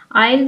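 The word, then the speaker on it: aisle: आईल जो है इसमें जो लेटर एस है यह साइलेंट है।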